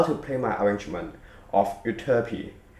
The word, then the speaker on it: Euterpe: play My arrangement of uty that is the English pronunciation of the name of an ancient Greek godess the song is from